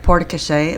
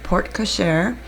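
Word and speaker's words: porte-cochère: and yes I know I always say it poret but that's because I'm from the south so sorry sometimes will slip up and not say it correctly but it is port koser and the guys are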